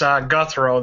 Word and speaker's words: Gouthro: It's Gouthro. The O is silent.